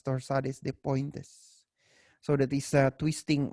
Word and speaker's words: torsades de pointes: but that is pronounced that is a French term which me which is pronounced as torsade dep Point okay so but it is pronounced as torsades de Pointes so that is a